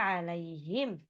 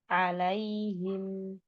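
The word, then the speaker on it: عليهم: Bunyinya bukan alaihim, salah. Bukan juga alaihim, salah juga. Tapi alaihim, alaihim. Gitu ya. Dari depan. Siratal ladzina an'amta alaihim ghairil maghdubi alaihim.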